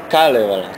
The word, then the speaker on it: Kalevala: É Kalevala. Kalevala. Então a sílaba tônica é o K. Kalevala. Um pouco sim, mas não é muito forte.